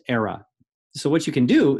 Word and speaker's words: Aira: IRA app here era it's pronounced era so what you can